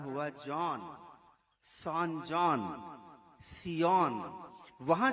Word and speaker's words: Zen: वहां से जब ये कोरिया पहुंचा तो वहां इसका उच्चारण हुआ जॉन, सॉन जॉन, सियोन.